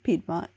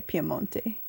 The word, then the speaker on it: Piemonte: italy the piemonte region piedmont but you don't say that you say piemonte but it's spelled kind of like piedmont you got it i